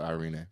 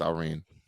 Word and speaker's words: Irene: Amanda Nunez Irene aldana I think she pronounces the e at the end of Irena I don't think it's just Irene um that's the main event at bantamweight 135.